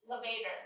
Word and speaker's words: levator: said it levator scapula levator yeah just take out like an elevator just take out the l levator scapula and trapezius